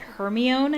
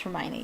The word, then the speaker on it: Hermione: the first book uh she pronounced hermione wrong she pronounced it she pronounced it hermione i think but yeah no it is pronounced hermione yeah um and uh